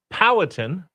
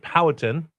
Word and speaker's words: Powhatan: So Powhatan is how is I believe how you pronounce it. The other day I just kind of was lazy and said Powhatan, not pronouncing The emphasis is on the wrong syllable.